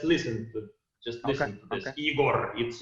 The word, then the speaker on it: Igor: you know but in in reality uh my uh name is pronounced with the very very soft last letter okay very very soft plaster which is igori yeah in fact